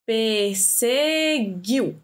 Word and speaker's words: perseguiu: A gente fala perseguiu, a gente não fala perseguiu, e a gente não pronuncia esse GU. Então, por não pronunciar o GU, a gente só pronuncia o IU, ou seja, é um ditongo.